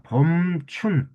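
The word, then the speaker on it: 春: 자, 봄춘. 이게 무슨 말이에요? 봄이라고 읽으면서 춘이라는 말을 써 줘요.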